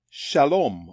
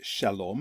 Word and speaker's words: shalom: In this video, we're going to look at this word here, the Hebrew word shalom, which I'm sure many people know.